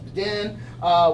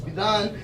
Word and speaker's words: Bidhan: So my first name is spelled Bidhan, often pronounced as Bidan, which is too super wrong. It's Bidan, but DH is not a sound in English, like I said, so no one pronounces it right.